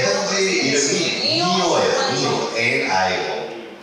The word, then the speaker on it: Nio: Para pronunciar. 제 현지 이름이 니오예요.